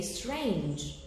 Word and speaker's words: strange: strange e we say strange so the last the final E is not pronounced that's why the word